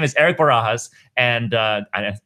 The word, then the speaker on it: Barajas: His name is Erik Barajas, and I pronounced that right?